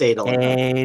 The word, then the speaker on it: Adolin: Is that how you Is it pronounce Adolin? It's Adolin.